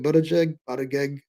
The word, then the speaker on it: Buttigieg: I always want to call it something like really kind of disgusting, but again, it's Buttigieg. I can never pronounce his name.